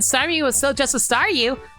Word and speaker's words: Staryu: was still just a Staryu, I could never pronounce his name right. I always end up sounding like saw you.